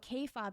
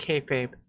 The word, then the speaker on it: kayfabe: I mean, she doesn't even know what K-fob is. How are you? I'm gonna pretend she pronounced it like kayfabe, the way you're supposed to pronounce it.